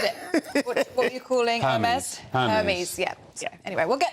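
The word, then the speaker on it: Hermès: Have you got an Hermes? Is that how you pronounce it? Oh, I wish I had an Hermes. Hermes, sorry.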